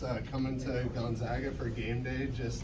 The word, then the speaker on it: Gonzaga: public service announcement for the right way to pronounce Gonzaga. That there's been a national issue of it being called Gonzaga, and I think it's pretty easily remedied. I mean, if it were Gonzaga, they'd be the Zogs, and they're the Zags.